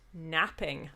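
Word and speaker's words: knapping: someone has been hit napping i'm really bad at napping which it's spelt k-n-a-p by the way um you sell being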